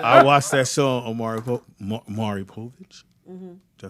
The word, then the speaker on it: Maury Povich: I watched that show on Maury Povich.